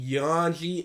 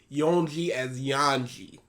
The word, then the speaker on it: Yonji: Okay, at this point, I'm assuming he was saying Yonji as Yanji.